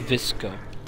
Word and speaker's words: VSCO: heard of that app it's pronounced visco okay i've never heard of